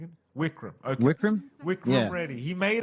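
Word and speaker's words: Vikram: I know you're very good at pronouncing it. Wikram.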